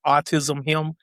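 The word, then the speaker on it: AutisHIM: It's AUTIS and then capital HIM, like autism him.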